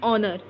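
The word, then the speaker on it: honour: एन ऑनर, ठीक है, ऑनर में ओ का साउंड आ रहा है, हॉनर बोल रहे हैं, हॉनर सिर्फ लिखा जाता है, हॉनर बोला नहीं जाता है, एच साइलेंट है।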